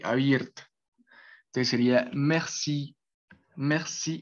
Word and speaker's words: merci: No en todas, eh, hacen esa elevación de tono al final de cada palabra. Entonces, por ejemplo, en este sería merci, merci. O la siguiente que sería tête, tête. Y esa también es un sonido abierto.